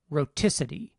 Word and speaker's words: rhoticity: Notice what happens in the word rhoticity. When the stress shifts to the second syllable, the alveolar stop is still between two vowels, but now the second of those vowels is stressed.